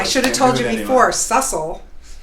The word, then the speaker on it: Sussel: less stress life Seussville hi and so I hate to correct you right out of the gate I should have told you before sussel rhymes with muscle which is a good